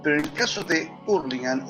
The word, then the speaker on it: Hurlingham: Yo me crié en un lugar en el Gran Buenos Aires que se llama Hurlingham, o se pronuncia Hurlingham, donde hay un barrio